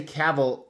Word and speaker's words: Cavill: Henry caval that's right you say caval because it rhymes with travel that's the proper way to pronounce it just like Mr X